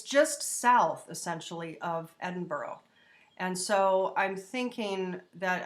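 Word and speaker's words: Edinburgh: pronounced Bamber oh it's just south essentially of Edinboro and so I'm thinking that I think it's up in New York sure here so because this is pronounced Edinboro I'm assuming this is Bamber Oh some of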